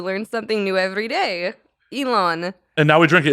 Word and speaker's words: Elon: you pronounce his name Oh I thought it was Ellen Ellen musk wait really it's Elon Elon yeah yeah Elon okay